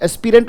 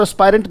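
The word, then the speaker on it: aspirant: एस्पिरेंट और एस्पायरेंट दोनों तरीके से बोलता है बेटा, राइट। एस्पिरेंट भी बोल सकते हो, एस्पायरेंट भी बोल सकते हो, मर्जी आपकी, दोनों ही उच्चारण है, ब्रिटिश और अमेरिकन का फर्क है।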